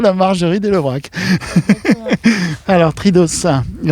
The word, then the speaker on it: Tridos: Alors, Tridos. Et on prononce le O et le S, hein, c'est ça ? On prononce toutes les lettres, oui. Alors, on va avoir une particularité de Tridos, c'est qu'il y a